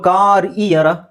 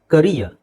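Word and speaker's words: career: ಅಂತ ಹೇಳಬೇಕು ಇಯರ್ okay so ಕಾರ್ ಇಯರ್ ಅಲ್ಲ ಇಟ್ಸ್ ಕರಿಯರ್ ನಮಗೆ ಅನ್ಸುತ್ತೆ ಕ್ಯಾರಿಯರ್ ಅಂತ ಆಕ್ಚುಲಿ ಅದು ಕರಿಯರ್ ಕರಿಯರ್ ಕರಿಯರ್ ಕರಿಯರ್ okay ಕರಿಯರ್ ಅಂದ್ರೆ ಗೊತ್ತು ನಿಮಗೆ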